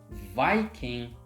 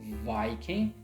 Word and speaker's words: Viking: Now this one here, Viking. Again, the first vowel is long, I, Viking, which means you divide before the consonant, like this.